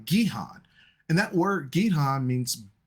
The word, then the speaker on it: Gihon: So, which brings us to our next river, which is pronounced Gihon.